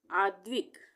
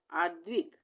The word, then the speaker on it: आद्विक: से पहले लगेगी अश्मित आद्विक यहां पर भी आद्विक यहां पर भी द का उच्चारण आधा हो रहा है तो